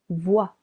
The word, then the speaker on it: voit: tu Vois il elle on voit silent t il on voit nous voyons.